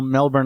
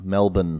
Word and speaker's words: Melbourne: Michael is recording all the way from beautiful Melbourne, Australia. Melbourne. Where it is Melbourne. Sorry, I pronounce the R.